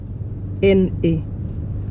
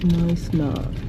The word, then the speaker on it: Knysna: Knysna. Have you guys seen how Knysna is written? It is Knysna. The K is silent. Knysna.